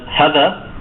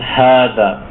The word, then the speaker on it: هذا: But keep in mind that it's not, if you don't see this alif, you don't pronounce it as hadha. It's a long vowel, so it's hadha, hadha, meaning this is.